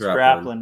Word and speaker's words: Draplin: Scott, but Aaron Draplin, and I think I'm mispronouncing that. It's Draplin, right?